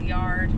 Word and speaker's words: Liard: sure gonna make is liar or yard which is how they say it here not player died cowboy